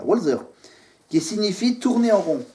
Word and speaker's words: Walzer: Ça doit se prononcer comme ça, Walzer, qui signifie tourner en rond.